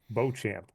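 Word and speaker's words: Beauchamp: Porter Jr let me get that last name pronunciation the reason I want to get this Bo champ yep I want to get his last name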